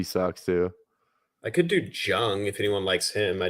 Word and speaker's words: Jung: I could do Jung if anyone likes him. I do have. I Texas. love Jung, dude. I love Jung. Really? I think it's Young though. I think it's pronounced Young.